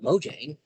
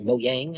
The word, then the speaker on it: Mojang: But of course I'm not Mojang or Mo Yang I guess if you want to say it correctly, quote unquote correctly. The correct English way is Mojang, but um they're not an English company. So for them it's Mo Yang. At least I believe.